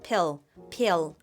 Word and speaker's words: peel: peel 뒤에 L 살려서 peel 이렇게 하시고요.